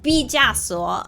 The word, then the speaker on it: 毕加索: But 毕加索 is how you say it.